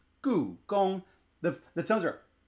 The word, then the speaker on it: Gugong: Gong 1, meaning it's a high tone. So, it's goo, gong.